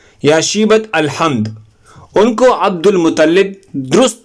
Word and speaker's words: عبد المطلب: شیبہ ابن ہاشم یا شیبت الحمد۔ ان کو عبد المطلب، درست تلفظ یعنی عبد المطلب اس لیے کہا جاتا ہے کیونکہ ان کو